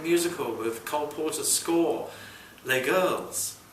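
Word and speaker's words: Les Girls: with Cole Porter score L girls rhymes with play girls the posters said helpfully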